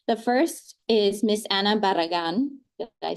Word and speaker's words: Barragan: The first is Miss Anna Barragan.